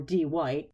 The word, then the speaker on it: Dwight: her friends Brewster or D white actually spelled Dwight but he insisted everybody pronounce it D white because it's cool standing outside her unit